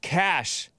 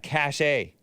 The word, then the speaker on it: cachet: now uh is it I think I heard that it's pronounced cash not cash a I think it's pronounced